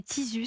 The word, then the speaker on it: Tizu: Ça a donné Tizus, ça s'écrit T-I-Z-U.